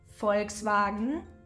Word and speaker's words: Volkswagen: mix we know that the v in the beginning of a word followed by a vowel is being pronounced as an F Volkswagen for right and the